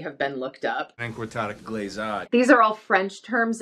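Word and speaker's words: glissade: I'm sorry, seems so bad is that they're mispronouncing the first two terms, which could easily have been looked up. Encortada glazade.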